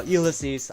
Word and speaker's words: Ulysses: That's how his name is pronounced? Ulysses? Oh my god. I finally know now, Ulysses.